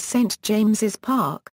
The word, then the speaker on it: St James's Park: Park of St James, the name of the ground is correctly written as St James's Park, with the second S pronounced.